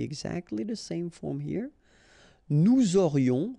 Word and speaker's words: nous aurions: Nous aurions, final S not pronounced, and then you've got this liaison, nous aurions.